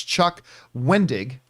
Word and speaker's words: Chuck Wendig: And I often forget how to properly pronounce his name, but it's Chuck Wendig, I believe is how you say his name.